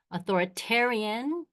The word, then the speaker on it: authoritarian: Authoritarian rhymes with barbarian.